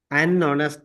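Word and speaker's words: honest: அ sound எங்க கிடக்கு யூக்கு வர அ உச்சரிப்பதான் இங்க கொடுக்கறோம் சரியோ அதேபோல ஹனஸ்ட் மேன்ன்றோம் அங்க ஓவுக்கு வர ஓ உச்சரிப்ப கொடுக்கறோம் அதனாலதான் அன்வர் அன்னஸ்ட் மேன் என்று சொல்றோம் இது கிளியரா சார் சார்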